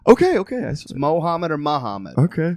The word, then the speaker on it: Mohammad: on your birth but it's not pronounced moo it's never pronounced moo but it spelled that